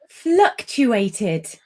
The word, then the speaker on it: fluctuated: And finally, fluctuated. Yes. That's a difficult one, isn't it? Some difficult consonant clusters in there. Also, ed endings. There are 3 different pronunciations of ed endings. We've got d, t, and id.